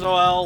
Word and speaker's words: Noel: then too all right note to self nans Noel like The First Noel now here's Marshall he's